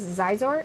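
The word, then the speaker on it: Xizor: I hope they do a movie with Princess Zizor. Is that how you say it? Him and Vader. Prince Sizor, yep.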